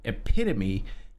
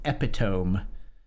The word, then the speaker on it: epitome: Like I read a lot, but I'd only ever read the word epitome. I had never heard it said out loud. And so when I read it, I said epiome.